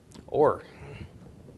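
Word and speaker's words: אור: Or. Yes, or. Aleph is silent, o of the cholam, ra of the resh.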